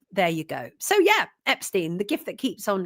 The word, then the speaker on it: Epstein: Um, Stein, not Stone. Who said Stone? I I didn't say Jeffrey Epste. No, Jeffrey Epstein. Jeffrey Epstein. They They changed it. Americans pronounce it different to the British, but I never said Stone.